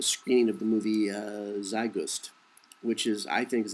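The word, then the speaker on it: Zeitgeist: of the movie uh zust which is I think is a very accurate uh depiction of the world today I don't pronounce it it's German it's zi T GE i s t look on at uh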